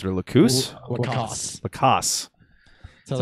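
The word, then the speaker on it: LaCosse: He's talking about Matt Lacoste, I believe is how you pronounce it, or Lacoste? Lacoste.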